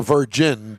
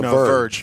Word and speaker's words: Verge: small suv called the verge uh it'll be the first ev to go on sale this spring and not the virgin but the verge v-e-r-g-e is that verge verge oh my gosh